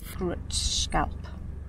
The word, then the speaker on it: Grindelwald: here, and it's gonna take us back to pronounce it? Grindelwald.